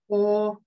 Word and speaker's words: horse: Минимая и на конце. Мы ее не произносим, здесь не показываем. Минимая и – это та буковка, которая не произносится. Значит, обрати внимание, у нас будет три звука, но в слове будет пять букв. Потому что звук О записывается двумя буквами, и на конце еще есть немая И. Мы ее пишем, но не произносим.